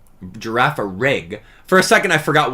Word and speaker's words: Girafarig: Girafarig with like a soft G. Girafarig.